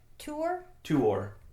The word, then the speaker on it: Tuor: U, but usually like vowels are not run together when they come next to each other.